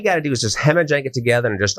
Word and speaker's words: Jhemajang: and plant brand called Hemajang. Well, you're talking about making up words. This is the weirdest word. You're going to have to spell it for everybody. Hemajang is JH. The J is silent.